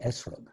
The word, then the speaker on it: etrog: their common nickname is lulav and etrog also pronounced in its ashkenazic pronunciation lulav and esrog and here is the